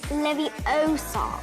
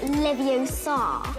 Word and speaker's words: Leviosa: Is it Leviosa or Leviosa? It's Leviosa, not Leviosa.